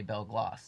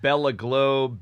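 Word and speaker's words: Belle Glos: that we did of how to say bell gloss. Yeah. Yeah. Cuz people there was bell globe. Bella globe. Bella gloss. Yeah. Yeah. Just simple bell gloss.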